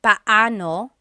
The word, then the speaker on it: paano: It's technically paano. Paano. When there are two vowels together, you say them separately. Paano. But when speaking quickly, Filipinos just say paano.